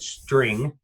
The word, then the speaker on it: STR: gonna go with and you're gonna laugh at the pronunciation but I always call it string in my head Gavin laughing because